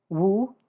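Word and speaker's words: 戊: And these are pronounced jia, yi, bing, ding, and I'll try to be very careful with those two because they're very close together in pronunciation. Wu, ji, geng, xin, ren, and kui.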